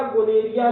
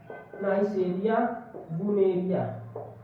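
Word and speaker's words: gonorrhoeae: ये होता है नाइसेरिया गोनेरिया नामक जीवाणु से। किसके कारण होता है? नाइसेरिया गुनेरिया, नाइसेरिया गुनेरिया, या कोई इसे जो है गोनेरिया भी कहते हैं। गोनेरिया उच्चारण में फर्क होता है।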